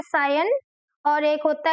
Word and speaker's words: scion: तो इसको हम बोलते हैं सायन। क्या बोलते हैं, सायन। तो आप SCION का जो प्रोनाउंसिएशन है वो सायन होता है।